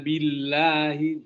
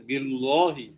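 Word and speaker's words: بِاللَّهِ: Man amana billah, billah ini ditarkik, ya, karena diawali dengan huruf baris kasrah. Man amana billahi, jangan bilang billahi, tapi billahi.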